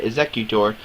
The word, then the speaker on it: Exeggutor: Exeggutor has 100 HP, and he has his attack called Blockade.